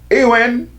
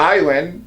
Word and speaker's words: Iran: Iran or Iran, depending on who's pronouncing it, Iran has wanted the US to leave the Gulf for decades.